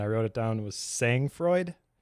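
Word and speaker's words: sang-froid: wrote it down, was saying Freud, I think is how you say it, say N G F R O D, which is unflapable coolness under pressure.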